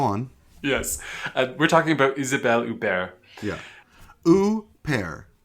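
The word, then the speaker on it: Huppert: Yes, we're talking about Isabelle Uber. Yeah, pair. That's how you say it. It's not hoopair. It's not Hubert. It's u.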